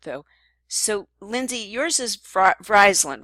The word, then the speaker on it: Vriesland: So Lindsay, yours is Vriesland, right? or wait, I don't know if I said it right. Vyslland.